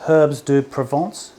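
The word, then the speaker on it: herbes de Provence: Okay, so there's probably a good two tablespoons even herb de Provence. How do you say that, Christophe? Herbs de Provence.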